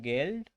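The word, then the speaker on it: Geld: জি কে গে, মানে এটার উচ্চারণ হবে গেল্ড, আর এটার মানে হচ্ছে যে মানি বা টাকা।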